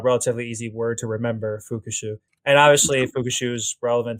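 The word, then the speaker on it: 復讐: And revenge is fukushu. Fukushu is spelled f u ku s hu.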